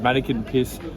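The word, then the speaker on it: Manneken Pis: with this little weeing man his name is mannequin piss I show you okay apologies for the mispronunciation we realized after we filmed this that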